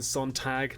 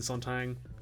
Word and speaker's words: Sontag: who pointed out and it is Susan Sontag not Susan Sontag I just said that wrong I just said that rope and spelled it wrong and said it was said it wrong at least once in